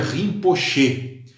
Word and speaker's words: rinpoche: palavra tibetana muito interessante que se pronuncia rinpoche e que significa literalmente